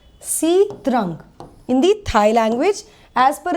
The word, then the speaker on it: Sitrang: किया है चित्रण को जिसको प्रोनाउंस किया जाता है sitarang Hindi Thai language S